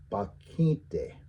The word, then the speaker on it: pakhíŋte: So this one, notice that the stress changes. Pakhíŋte, right? And so now it's just pakhíŋte. The stress is on that I.